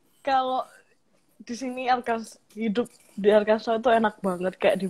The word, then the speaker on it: Arkansas: Di sini Arkansas itu dibaca Arkansas. Karena ejaannya ejaan Prancis.